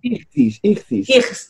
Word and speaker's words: Ichthys: Hay un famoso símbolo de un pez de Cristo, sí, que se llama Ishtis, no sé cómo es que se pronunciará realmente, pero bueno. Ichthys.